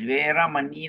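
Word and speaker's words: veramaṇī: Veeramani, okay, this V, for this case, we pronounce as Veeramani lah, Veeramani lah. Veeramani, because we have no W in the Pali or in our Pali phonetics.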